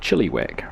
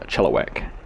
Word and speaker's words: Chilliwack: my eye I was saying it more like Chilliwack rather than a Chilliwack so hopefully it might appease a few people